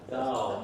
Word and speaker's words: thou: Thou should rhyme with power. Thou, not thou. Thou. Again, it's that ah sound.